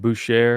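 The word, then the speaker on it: Bushehr: I think in the media that you said Bucher. Is that how you pronounce it?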